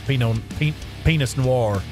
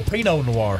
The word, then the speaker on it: Pinot Noir: red wine that's that's Pinot penis Noir uh no Pinot Noir sorry I said it wrong penis more and uh